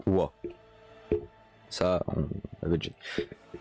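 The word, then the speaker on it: は: Donc note, hein, la particule ha se prononce wa.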